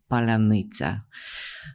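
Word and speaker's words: паляниця: So Ukrainians developed this password, which was known to everybody, but only those who are on their side could pronounce. And you'll know it's Palanitsa. For whatever reason, Russians cannot pronounce it.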